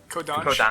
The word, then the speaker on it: Kodansha: Kondasha, is that how you say it? Kodansha. Kodansha. Okay.